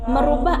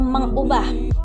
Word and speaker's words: mengubah: sering sekali dilakukan tujuh merubah atau mengubah kita seri * menggunakan kata merubah Bukan katanya seharusnya ditulis dan diucapkan adalah mengubah job karena asal katanya